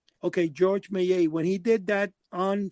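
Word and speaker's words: Georges Méliès: and I guess that what's how do you pronounce the name of the Frenchman George May okay George mayay when he did that on screen where his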